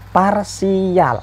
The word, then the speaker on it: parsial: ada yang bacanya do ada yang bacanya do macem-macem nah ketika kita nanti latex gunakanlah Teks itu kita bisa bacanya dua atau Doh itu Enggak kan jadi simbol seperti ini tampak Hai tayang menjadi simbol seperti ini bacanya adalah yang tepat adalah parsial Hai jadi simbol seperti